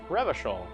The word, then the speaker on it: Revachol: bad for your health River Shoal is pronounced ravishore aranyi is pronounced aranyu